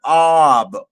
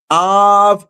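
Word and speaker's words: אב: Another way you could pronounce the bait is vet of va. And and so is ab or is ab. And guess what off means in Hebrew, brother Carl? Av is the word for father in Hebrew.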